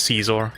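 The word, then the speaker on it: Scizor: But I always called him Scissor because that I thought that was the joke, because scissors. But now apparently you pronounce it as Caesar, according to that.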